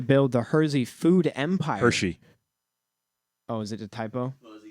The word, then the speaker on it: Hershey: Morgan, Milton Hersey, also canceled at the last moment and survived to build the Hersey food empire. Hershey. Oh, is it a typo? No, it's Hershey. Milton Hershey.